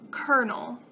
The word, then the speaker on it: colonel: a little tricky kernel looks absolutely nothing like how it's actually pronounced kernel penguin penguin six six